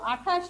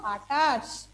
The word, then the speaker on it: আটাশ: আটা আঠাশ লিখে ফেলো আঠাশ নয় আটাশ আমরা উচ্চারণ করব আটাশ তাহলে সরিয়া আকার তালে